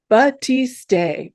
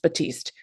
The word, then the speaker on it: batiste: As an aside, Professor Google tells me that the American pronunciation is Batiste, Batiste, Batiste. I've only heard it pronounced Batiste, which is the British pronunciation according to Professor Google.